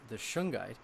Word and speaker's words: shungite: A friend of mine, I spoke with the day afterwards, after that interview, and he brought up that he had been taking shungite.